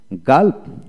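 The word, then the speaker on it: gulp: তারপর আসেন গাল্প জি ইউ এল পি গাল্প, আইপিএ বানানো হচ্ছে জি এ এল পি গাল্প গাল্প।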